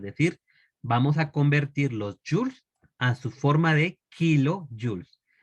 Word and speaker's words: joule: Joules. O joule en muy castellano dicen algunos. O también algunos le llaman julios. ¿Verdad? Pero lo correcto sería joules. Se escribe joule.